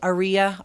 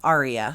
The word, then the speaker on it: Aria: i have a blue i don't know how you say it aria arya some people say aria some people say aries let's use both okay